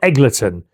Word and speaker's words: Eggleton: Unless I've been saying it wrong, it's Eggle. Oh, it's Eggle. As in Wiggleton. Eggleton, not Eggleton.